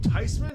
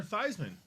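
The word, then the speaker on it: Theismann: so going forward do you call him tysman or thyman or does he really prefer thyman I don't know we can call him whatever you want some people call him a thigh man as well you can go thyman thigh man thesman th like would he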